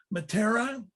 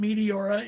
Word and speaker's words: Meteora: this um this the city here is is pronounced matera you can call it meteora if you want but you'll be corrected by